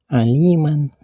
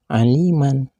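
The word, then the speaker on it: عليما: Alif atau dua harkat begitu pula kalimat Aliman tidak boleh dibaca Aliman tapi harus dibaca alima bila dihentikan membacanya panjang dua harkat dan kalimat sajajan bila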